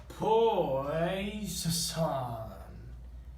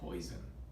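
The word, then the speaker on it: Poisson: a metal dog so everyone can hear it pronounced wrong ready go pour the song distribution now this should not be confused with poison or okay actually miss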